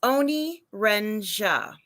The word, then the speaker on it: Oni Renja: It's Oni Renja, not sore or anything.